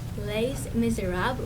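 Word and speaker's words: Les Misérables: And our musical this year, forgive me, I pronounced this wrong, but it's pronounced Les Miserables, as I looked it up.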